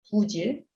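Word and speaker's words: 不疾: 여기서 불이라고 했는데 부라고 고치세요. 여기도 발음할 때는 부질. 그 지읒 앞에 있으니까 우리가 리을 빼고서 부질이라고 발음하죠.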